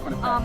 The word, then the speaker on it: Quinnipiac: how to pronounce Quinnipiac. it. Yes. Yes, Quinnipiac.